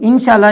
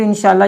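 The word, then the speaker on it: ان شاءاللہ: गलत किस अंदाज से प्रोनाउंस किया जाता है? तो इंशाअल्लाह, तो इंशाअल्लाह नहीं कहना, बल्कि इंशाअल्लाह, इस अंदाज से इसको पढ़ेंगे।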